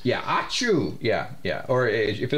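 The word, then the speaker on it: Ahch-To: to the island of aatu spell it AC I I'm sorry ah h c h hyen t o I'm pretty sure it was named as a guy sneezed yeah auu yeah yeah or if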